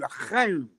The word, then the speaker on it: L'chaim: L'chaim. What kind? L'chaim. Oh, l'chaim. Yeah, I even said it right. L'chaim. Very good. You got the chuch in there.